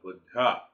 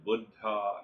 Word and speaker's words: Buddha: what is known as Buddha and awakening. It is not Buddha as we Americans say. The Buddha means the old guy. It is a Sanskrit word or a Hindi word.